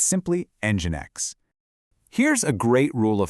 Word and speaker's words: nginx: So, it's not Engine X, it's simply Engine X.